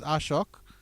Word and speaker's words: Ashok: It's been corrected that the pronunciation is Ashok.